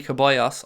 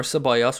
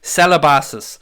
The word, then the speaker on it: Ceballos: paid professional pundit, say, instead of saying Arsenal have Danny Ceballos on the bench, or Ceballos, whichever way you want to pronounce it, he said Celebassis.